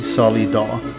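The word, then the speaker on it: Solidó: the show is actually solly dog a tribute to portugal solidar which is s-o-l-i-d-o with an accent on the o the word sol means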